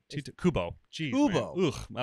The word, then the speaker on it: Kubo: Who's Toby? It's not Toby? You mean the artist? The author? Kobe? Kiba? Oh. Is it Kobe or Toby? No. Am I saying it wrong? Kubo.